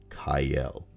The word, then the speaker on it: Cyael: It's a very weird name, Cyael, and it is pronounced Kyle.